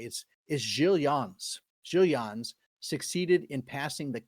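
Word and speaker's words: Gil Eanes: So 20 years later, 1434, um I always read this as Gilian. It's g i l e- an e-s but it's pronounced of course because he was a Portuguese guy is is giillans giillian succeeded in passing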